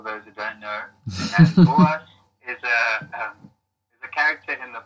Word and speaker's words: Boas: The band name is Boas. It's actually an Afrikaans name. It's a predominantly Afrikaans band. Yeah. And it's fun means from, for those who don't know. And Boas is a character in the Bible.